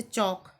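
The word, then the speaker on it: chalk: जैसे चौक, CHA, इसमें भी हम काय का प्रोनाउंसिएशन नहीं कर रहे हैं, एल का प्रोनाउंसिएशन नहीं कर रहे।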